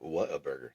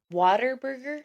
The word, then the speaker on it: Whataburger: Waterburger? No, not water.